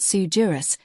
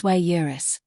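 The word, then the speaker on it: sui juris: It's not sujurus, it's swayurus.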